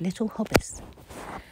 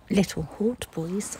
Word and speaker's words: Little Hautbois: to a place called little hobbis it looks like little hot boys on the sign that is pronounced for